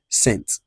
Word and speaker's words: cent: So, 100 will now be cent.